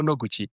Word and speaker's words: Noguchi: I know Noguchi, but today you are pronouncing it right. You said it's Nuchi, correct? Yes. So his name is Hideo Noguchi.